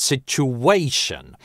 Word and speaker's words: situation: Sit-you-way-shun. В этой позиции должен звучать долгий /u/ как в слове you. Не все носители там это связующее [w] произносят и слышат, хотя например wiktionary нам дает такой вариант - situation.